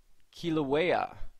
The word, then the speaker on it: Kilauea: Kilauea. That's how you pronounce it, I believe.